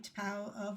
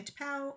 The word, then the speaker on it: T'Pau: A lot of people also refer to me as Vulcan because they don't know how to pronounce T'Pau, because it's got two consonants next to each other and nobody knows what to do with that, which is fine.